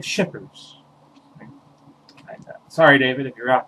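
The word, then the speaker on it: Schippers: here this little book fell out by david chippers david p shippers sorry david if you're out there and you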